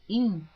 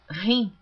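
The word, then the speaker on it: him: capítulo 4, essa palavra im. Algumas pessoas leem rim pronunciando H como inglês, mas a Bíblia está escrita em português, então eu estou lendo como está escrito.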